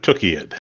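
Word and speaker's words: Tukayyid: I will ask Michael, how do you pronounce that word of all words? I do it Tukiad.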